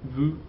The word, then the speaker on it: vous: I told you when I taught you those pronouns not to pronounce the S, okay? It's nous, vous, il, elle.